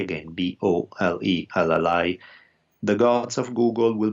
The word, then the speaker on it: Bolelli: So my name is spelled like Daniel with an E at the end, Daniele. So Daniele. My last name Bolelli, Bolelli. Again, Bolelli.